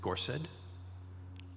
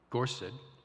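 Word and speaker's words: gorsedd: words and we begin with the word ahwan it's spelled a-w-e-n the next word that we're going to talk about is gorset spelled g-o-r-s-e-d-d and the last i studford spelled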